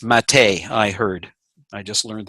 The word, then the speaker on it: MATE: on the old genome it's spelled mate but it's pronounced Matei I heard I just